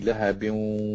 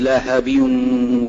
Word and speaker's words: لهب: Yeah, when you pronounce the lahab, it is the small ha, right? So ha, lahab. It's not lahab. Lahab.